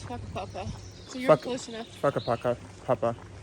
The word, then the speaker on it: Whakapapa: It's Whakapapa.